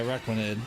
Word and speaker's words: Araquanid: I don't feel like I pronounced it right. Araquadia? Quaid? Araquaid? Araquanid? Oh yeah, Araquanid.